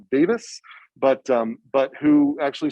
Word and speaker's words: Davies: named Paul uh well Paul Davies but I think Paul pronounce it Davis but um but who